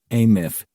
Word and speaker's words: AMF: The Andrew Melvin interrogation footage, AMF, pronounced ath is infamous among the conspiratorial community of old house archivists, OAS, pronounced ohas.